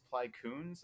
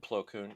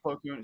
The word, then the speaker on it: Plo Koon: had a really cool helmet, and he was Ply Koons, I believe is how you say his name. Plo Koon. Yeah. Plo Koon, sorry, Plo Koons.